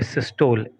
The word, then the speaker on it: systole: आ जाइए, सबसे पहले एक टर्म देखिए, सिस्टोल, SYSTOLE।